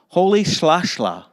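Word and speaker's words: Rolihlahla: african name which is spelled with an r but actually says sound pronounced like this holy slashla holy slashlaw played barefooted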